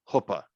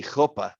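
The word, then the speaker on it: chuppah: ah see there's your hoopa that c-h-u-p-a is hoppa that's how that's pronounced you don't hear the c um and if you want to get really jewish then it would be koppa but you don't have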